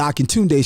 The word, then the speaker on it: Akintunde: Akintunde. Daily I shall. It's the Akintunde Show. Say what? Say what? You heard what I said. That's right, y'all. The Akintunde Show. Spell it. Akin Tunde.